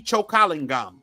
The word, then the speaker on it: Chokalingam: and h a m choing gum Vera mindi chokalingam she's Indian too her name is hard to pronounce and I'm sure a lot of people